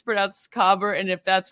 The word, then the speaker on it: caber: the way um my research is titled it's pronounced cober but I'm gonna preface something in the second